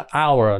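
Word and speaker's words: hour: nha thành ra là đánh dần thì là h nhưng mà phát âm thì lại là không có cái gì hết m nó chỉ là our nó là nguyên âm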